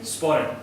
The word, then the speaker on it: sporran: How do you pronounce that again? Sporran.